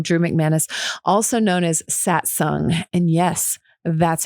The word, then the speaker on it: Satsang: stoked to welcome drew mcmanus also known as satsung and yes that's how you pronounce it i asked him so now you